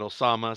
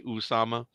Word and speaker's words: Osama: it depends how you want to pronounce it. Some people call it Osama. Some people say Usama.